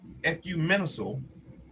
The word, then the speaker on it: ecumenical: Both his fearlessness And ecumenical. Let's see what that word is. Let's see what that word is. Ecumenical. It's almost like economy or economical. Ecumenical.